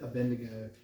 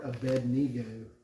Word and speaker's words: Abednego: Meshach and to Azariah we always said abendigo but it's more a bed nego so I'll try and pronounce it properly and all of those